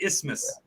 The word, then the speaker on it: isthmus: And I actually think a lot of people probably do pronounce the TH isthmus, but at that point it kind of sounds like you got a lisp.